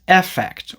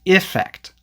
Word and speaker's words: effect: However, in most dialects of British English, the E is usually pronounced as the short I sound, which is the sound that we have in words like in, win, him, and sit.